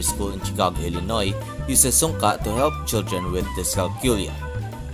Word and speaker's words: sunka: pronounced sunka it is a philippine manancala game that is